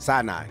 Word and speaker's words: Sinai: So, yo, we got a live interview, conversation with my man Sinai. Hey. Did I say his name right? Sinai. Like the mountain. Sinai.